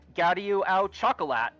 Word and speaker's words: gâteau au chocolat: It's obviously pronounced gâteau au chocolat. Yo, It was gonna be Gaddy at the beginning. It was like, oh, I'm expecting the EAU to just go like, AU.